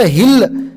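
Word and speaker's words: hill: प्रोन्सशन करा म्हणायचं नाही याला एच आहे तर हिल हे लक्षामध्ये ठेवा एच एच आय ही एल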